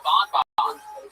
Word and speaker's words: Bonbon: You're like Theo Bonbon. Theo Bonbon. Is that a dude? Bonbon? Bonbons, yeah. Right. There you go. Get your little chubby. Bon rhymes with bomb. Yeah. And you just say it twice.